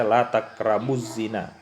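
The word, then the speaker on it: لا تقربوا الزنى: Kita tidak membacanya la taqrabul, tapi kita baca la taqrabuz zina.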